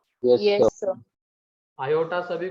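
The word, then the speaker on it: iota: अरे एओटा लिखा तुमने, आयोटा ये होता है, ये स्पेलिंग है उसकी, इसको आयोटा कहते हैं, एओटा नहीं।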